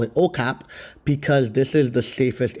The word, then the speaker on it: Okap: So, what I decided to do was go to um Capian, which we call it OKAP, because this is the safest area.